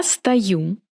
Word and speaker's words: стою: Я стою. Ты стоишь. Он стоит. Мы стоим. Вы стоите. Они стоят. Pay attention to where the accent is. I pronounce O as A.